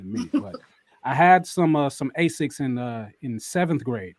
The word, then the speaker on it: Asics: I might pronounce this wrong. Asics? Asics.